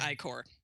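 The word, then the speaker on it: ichor: idea how that's supposed to be pronounced pretty pronounced i-core yeah that's right either is um does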